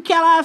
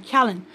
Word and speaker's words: Callan: Thank you, Kala, for... I always seem like I call his name wrong. Callan.